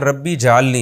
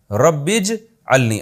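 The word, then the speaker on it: رَبِّ اجْعَلْنِي: नमाज कायम करने वाला इसको लोग अक्सर पढ़ते हैं रब्बी जलनी ये गलत है रब्बज अलनी असल में था रब्बी इज अलनी अलिफ साइलेंट हो गया ऐ मेरे रब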